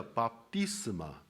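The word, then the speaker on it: βάπτισμα: Según el idioma griego, el bautismo se pronuncia baptisma, cuyo significado es inmersión, sumersión.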